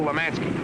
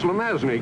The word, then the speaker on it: Lemanski: off i mean kill lemanski he's pronounced lemazny cubes at your age